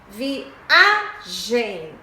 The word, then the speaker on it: viagem: Por exemplo, viagem, o A é antes da última, então ela é paroxítona.